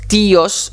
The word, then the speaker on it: tío: Attention, accent sur le i, très important. El tío, la tía, los tíos. D'ailleurs, on l'écoute à la prononciation, on écoute l'accentuation du i.